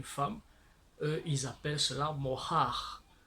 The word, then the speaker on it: mohar: eux ils appellent cela mohar. Mohar, donc prendre une femme, payer un prix pour avoir une femme. Donc en hébreu, le mot dot signifie mohar. Mohar. Mohar ou mohar. Ça dépend des prononciations.